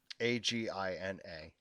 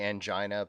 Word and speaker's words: angina: Agina. I think it's actually angina, but it's just how my grandmother I've used to heard pronounce it.